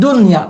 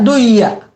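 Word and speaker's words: دُنْيَا: Kalimat dunya bukan dibaca duya, ya.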